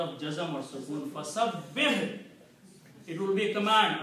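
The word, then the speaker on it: فَسَبِّحْ: You have to say fasabbih. Ha should have a sound of jazm or sukoon. Fasabbih.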